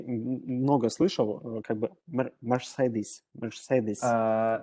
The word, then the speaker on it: Mercedes: Ну, смотрите, если вот прям совсем как британцы, да, произносят, то там R все-таки достаточно глухая, и вот во втором слоге у них там не совсем звук а он такой как a, то есть Mercedes. Ну, это уж прям вот если совсем академично. Можно выделить R, это будет больше американское произношение, тогда можно сказать Mercedes, но вот правильно Mercedes.